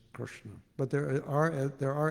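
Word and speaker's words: कृष्ण: up on the Krishna it's not Krishna it's Krishna but there are there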